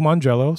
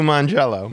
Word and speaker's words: Mangiello: And this is from Lou Mangiello, spelled with a J. So not really Lou Mangiello, really.